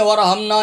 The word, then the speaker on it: وارحمنا: یہ ہا زبر ہا آپ کو بتا رہا ہوں کہ یہ ہا ہے، الف نہیں ہے، ورحمنا نہیں ہے، ورحمنا الف نہیں ہے، الف کی آواز لوگ تلفظ غلط پڑھتے ہیں، الف کی آواز نکالتے ہیں، ورحمنا، ورحمنا، حامیم زبر